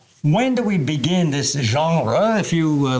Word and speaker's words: genre: Now, when do we begin this genre? If you like the term genre, you're French, aren't you? Yeah. I'm saying it right? Genre. Genre. Oui.